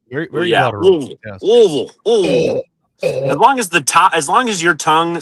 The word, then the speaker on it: Louisville: Yeah, I from what I've understood, it's as quickly as you can. That's right. It's very guttural. Very yeah, guttural. Yes. Louisville.